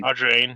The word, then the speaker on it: Audrain: I know Josh is far from here, but we do have to set up a Audrian? How do we pronounce it? Brain. Oh, a drain. Audrain, yeah, that's how it is.